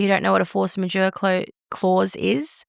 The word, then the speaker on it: force majeure: Force majeure. Yeah. That's how you pronounce it.